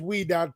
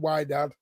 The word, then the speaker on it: Wydad: And it is Wedad, not Wad. People start pronouncing the the uh the name of the team correctly.